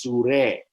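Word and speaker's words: Súrih: accent r i h sure which is a more of a persian uh pronunciation of it as opposed to the arabic in the arabic it's surah you know you know so it's sure and the guardian went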